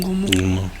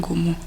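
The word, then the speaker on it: Ngumú: Que suena como, no puedo porque gutural. Es gutural. Sí. N-G-U-M-U, algo así como un Gumú.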